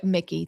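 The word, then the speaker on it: Mikie: This was in Newark, so you know, is it Mickey, Mikey? I don't know what her name is. Cheryl. Mickey. Mickey. Thank you.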